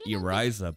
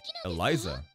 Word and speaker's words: Eliza: Usually the L is pronounced like R, like Eriza, but Eliza.